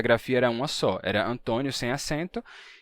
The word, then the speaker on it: Antônio: caso de Antônio que no Brasil se pronuncia com o fechado e se escreve com acento circunflexo Antônio mas em Portugal esse mesmo